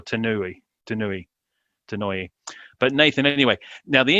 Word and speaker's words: Tanouye: I heard one of his colleagues in Las Vegas say his name, and I remember it was Tanouye or Tanouye.